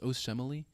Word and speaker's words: Osemele: Is it pronounced Osemele?